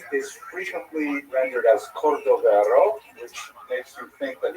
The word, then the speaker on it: Cordovero: his Matseba, his gravestone, it's Cordoero. It's a Portuguese spelling, but it's kind of a strange thing to pronounce in Hebrew, so it was sort of mangled into Cordovero, and that has become the standard, even though it is probably not correct.